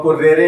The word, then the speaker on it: currere: शब्द पाठ्यक्रम लैटिन भाषा के शब्द CURRERE, बहुत ही साफ सही ढंग से इसका उच्चारण देख लीजिए और कुर्रेरे इसको छपा हुआ है आपकी किताबों में।